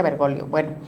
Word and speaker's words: Bergoglio: Dicen dicen que se correctamente se pronuncia Bergolio.